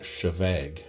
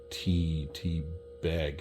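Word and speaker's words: Té Bheag: But anyway, he was overseas and he picked up a bottle of this, and it's pronounced Chevag, not T bag.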